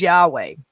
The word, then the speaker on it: Yahweh: known as the tetragrammaton the four letter name of god yhwh pronounced as yahweh that's not in the